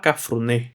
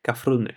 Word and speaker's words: Cafrune: Cafrune, yo lo llamaba Cafruné, no le daba como un acento en la Pero Jorge Cafrune, okay, contó que él